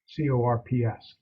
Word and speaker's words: Corps: They call themselves the Corps of Discovery, CORPS, the French pronunciation, the Corps of Discovery.